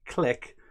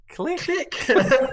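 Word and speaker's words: Klich: He says you've got to say click, but in a Scouse accent.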